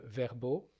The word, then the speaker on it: VRBO: qui dans d'autres pays s'appelle Verbo, VRBO, ça s'écrit.